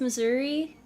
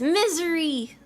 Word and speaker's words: Missouri: It's pronounced Missouri. No, it's Misery!